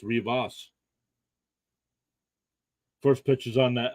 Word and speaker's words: Rivas: It's pronounced Rivas.